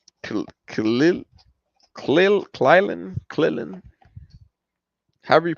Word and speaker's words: Krillin: Like, Klil, Klilin. However you pronounce that right there. Klilin. Klilin. Krillin. I don't know. It's Krillin.